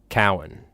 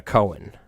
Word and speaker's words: Cowen: His last name is pronounced Cowen, not uh Cohen.